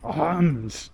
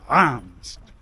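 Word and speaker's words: Reims: very tight schedule in arms Center yes you do say it like arms what you do it's like a like you set on a lower L arms as we were told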